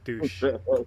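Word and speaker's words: dush: Yeah, it was spelled D-U-S-H, pronounced D-O-O-S-H. Yes, douche.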